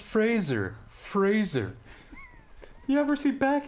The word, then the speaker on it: Fraser: It's pronounced Fraser.